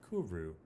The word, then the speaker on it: kuru: of the more interesting prion diseases is called kuru so it's spelled k-u-r-u and uh courio is something that used to be found in